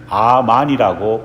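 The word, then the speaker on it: אָמֵן: 아십니까 바로 아멘이라는 고백입니다 히브리어로 아멘은 아만이라고 발음합니다 그 뜻은 우리가 아는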